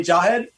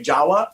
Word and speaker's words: Jahed: because i do i want to say jawa because i think it's it's like the closest thing i can pronounce the java that's kind of how it's pronounced but it's actually j-a-h-e-d welcome to the